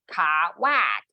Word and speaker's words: Kwak: Indeed, some Horse's breathers cleaved quack into two syllables, ka-whack. But Yungman vividly recalled Mitzner helloing him and shaking his hand, saying, so nice to meet you. Dr. Kwak, isn't it?